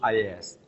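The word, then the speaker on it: IaaS: service pronounce pass and infrastructure as a service pronounce IAS SAS software as a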